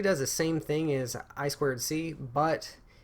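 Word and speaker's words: I²C: the same thing I to see is actually pronounced I squared C it's inter integrated circuit it's just a way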